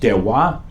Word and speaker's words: terroir: Pronounced terroir. It's a French term, and like some French terms, it doesn't really have a close approximation.